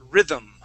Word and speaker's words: rhythm: so we're gonna uh when we pronounce this word okay um we're gonna go to that th sound and then it's like when we suck our tongue back in our lips immediately close that's how we pronounce that M so we're gonna say